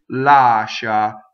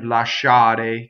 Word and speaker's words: lascia: What happens is you have SCI, which is pronounced she, and in Italian this is already a double consonant. So when you speak, you can say lascia, but you see how strong the sh is.